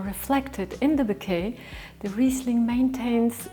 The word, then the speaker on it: Riesling: Riesling, Riesling, Riesling, Riesling Don’t say Reisling. It’s Riesling Well done!